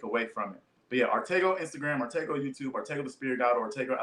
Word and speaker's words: Arttacgo: get a review uh artego on Instagram my name is spelled right there a r t t a c g o um the C is silent it's a Henny name